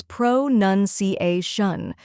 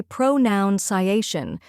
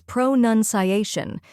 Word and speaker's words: pronunciation: The correct pronunciation is pronunciation. First, we have pro, which sounds like pro in professional. Next is nun, like a religious nun, not noun.